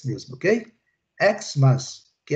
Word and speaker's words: Xmas: Xmas. Xmas. Ok? Ok, Luciana? Quando eu uso como abreviatura, ele é o som do X mesmo, do X mesmo, ok? Xmas, que é o Natal, né?